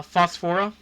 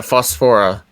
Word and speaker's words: Phosphora: Uh, Phosphora. Yeah, Phosphora.